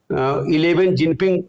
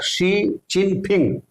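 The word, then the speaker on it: Xi Jinping: कहा कि 11 जिनपिंग तो जे का उच्चारण व च होता है हां जा जे का जो उच्चारण है वहा जा नहीं होता है च होता है और पी का उच्चारण फ होता है और एक्स आई उसमें वो जो है शिव एक् का उच्चारण श होता तो वो उनका सही नाम उनका है शी चिन फिंग और उसने उच्चारण कर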